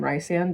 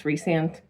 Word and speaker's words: Rhysand: Like I still call him Rhysand because R H Y S is Rhysand, Rhysand. But apparently it's Rhysand and I don't agree.